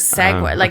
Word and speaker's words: segue: It is, that but Americans pronounce SEGUE, I think, as segue.